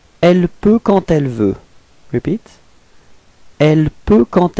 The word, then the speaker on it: quand elle: Okay, and here the D would be pronounced a bit more like a T. Okay, quand elle, alright, so we get elle peut quand elle veut.